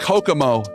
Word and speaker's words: Kokomo: Donut, it's pronounced Kokomo.